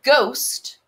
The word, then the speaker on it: ghost: the silent letters so in ghost you hear the ghost but that sneaky h is silent so don't let it